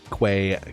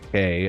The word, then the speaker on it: quay: wall seawall type e quay k however you want to pronounce it yes all three are correct depending on where you're from in the world and i